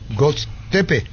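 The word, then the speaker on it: Göztepe: segundo José arruga Kevin pars al club Turco Go tepe así se pronuncia venta 70 por se cerraría en la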